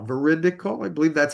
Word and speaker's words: veridical: Veridle is veri t i c a l. Veridical.